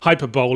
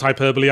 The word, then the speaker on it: hyperbole: don't understand exaggeration for comic effect and think hyperbole is what Sony's PR department eats cereal out of yes I know it's pronounced hyperbole I couldn't think of a better joke the